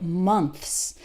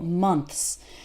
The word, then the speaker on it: months: th and then s so words like months that's really hard because we have a th which is a sound that might not exist in your native language and then followed by an S and that transition can be quite difficult months remember that for th your tongue is between your top and bottom teeth okay do this in